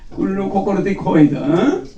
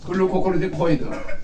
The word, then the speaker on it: 글루코코르티코이드: 거기는 그로코티콜 그루코티코이드 GLU 그 발음을 앞으로 잘해요. 글루코코르티코이드를 말하는 거야. 그 다른 사람이 들으면 못 알아듣지. 글루코코르티코이드. GLUCOCORTI COID 되게 단어가 길어. 에? 글루코코르티코이드.